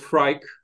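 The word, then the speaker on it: Freek: His name is pronounced Frike, the Dutch version of Frederick.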